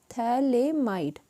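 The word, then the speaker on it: Phthalimide: अगर इसकी further strong heating करवाई, देखो, और ये क्या है, इसका नाम है थैलेमाइड, पीएच साइलेंट है, थैलेमाइड, ठीक है, थैलेमाइड है इसका नेम, और इसमें ए है यहाँ पर, ये ध्यान रखना, थैलेमाइड है ये।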